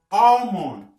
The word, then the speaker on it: almond: Almond. Almond. On ne prononce pas le R.